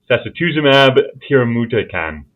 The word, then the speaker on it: sacituzumab tirumotecan: And I am going directly for the abbreviation there to neatly sidestep the need to pronounce that drug name. Is it sacituzumab? Sacituzumab tirumotecan.